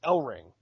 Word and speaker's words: Ellering: Then it's Ellering. Ellering. Okay. Because commentary said Ellering, but Dasha most definitely said Ellering, or just Ellering.